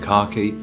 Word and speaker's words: khaki: So obviously you're going to get a couple of conservative colors like navy and khaki. Yes, that's how it's pronounced in the UK.